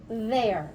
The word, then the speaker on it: their: It is also pronounced there, but look how it's spelled differently. This there is spelled T-H-E-R-E, and this there is spelled T-H-E-I-R.